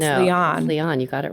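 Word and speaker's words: Liane: and big little lies is it Leon moriarity or lion it's Leon you actually did say it right like Leon the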